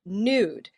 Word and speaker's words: nude: Another example of this is the word nude. Pronounced in decades past as nude, most Australians and Americans now say nude.